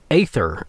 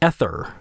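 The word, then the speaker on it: Aether: that is the cube ather ether I'm always never sure how to pronounce it's AE t h e r so I think it's like ather or e but it almost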